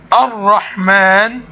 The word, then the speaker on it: الرحمن: فمن أمثلة الكلمات التي بها حرف أو ألف تكتب تنطق ولا تكتب، لكن الرحمن وما إلى ذلك.